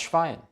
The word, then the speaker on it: Schwein: Stehen SCH zusammen, werden sie im Deutschen immer Sch ausgesprochen. Wie zum Beispiel im Englischen in Shake, Shut oder Shift. Das Schwein, die Schweiz, schwanger.